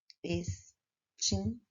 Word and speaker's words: extintor: Extintor. Extintor se escreve com um X, porém o som é de S.